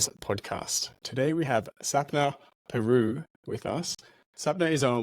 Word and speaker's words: Pieroux: I didn't ask if I was pronouncing your name right. I hope I didn't butcher your name. Pieroux, yeah, loads of people.